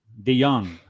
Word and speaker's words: De Jong: Today we have a very special guest, De Jong. If I'm mispronouncing it, correct me please. But is De Jong, like Stephen De Jong.